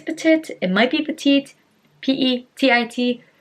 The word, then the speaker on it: Petit: and it's pronounced as petite so it sounds like the second t is pronounced but it's really not um i'm just gonna